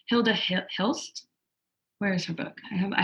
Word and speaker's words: Hilda Hilst: Hilda Hit. How do you say her name? Hilda Hilst.